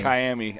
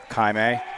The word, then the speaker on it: Kaimi: it's pronounced Miami. Kaimi. Yeah. It's like Miami. Okay. Miami. Okay. Grandma tracked me down Yeah. last night after the game and said that we were pronouncing that totally wrong.